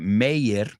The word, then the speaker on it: Meyer: I know you pronounce that Meyer, but that last name, M-E-Y-E-R, would be Breckin Meyer.